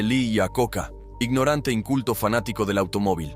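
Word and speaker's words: Iacocca: Se dice Le a Coca, ignorante inculto fanático del automóvil.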